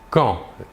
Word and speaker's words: quand: Il se prononce quand. La D finale ne se prononce pas.